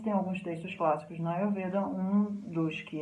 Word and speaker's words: Ayurveda: Então a pronúncia certa de Ayurveda é Ayurveda, como a gente estava vendo antes.